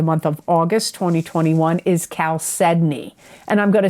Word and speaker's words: chalcedony: Geminis for the month of August 2021 is chalcedony. And I'm going to spell it because people have asked me, what am I saying? Chalcedony. It's Chalcedony.